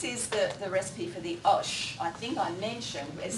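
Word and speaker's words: آش: so good, this particular osh, there's millions of oshes by the way, and you'll notice it's spelled A-S-H, but it's pronounced O, as in squash, our word squash.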